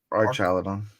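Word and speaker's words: Archaludon: Art ar Archaladon.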